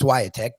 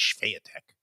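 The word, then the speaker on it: Świątek: The W is more like a V.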